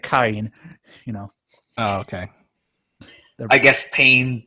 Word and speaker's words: Karin: Is Karen still around? Or Karen? Karin is how they pronounce it, I guess.